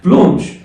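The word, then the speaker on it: blanc: مفرد مؤنث اكيد يعني بلونش بلونش اصلا كلمه ابيض بالفرنساوي اللون الابيض بالفرنساوي صفه ابيض بالفرنساوي بلو بلو الا ان بتتنطق اون والسي ما بتتنطق بلو بلو حلو لونش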